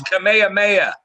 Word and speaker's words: Kamehameha: 1819 well here do you guys want to pronounce that what's uh right there is it come on it's kamehameha yeah it's king kamehameha okay that name who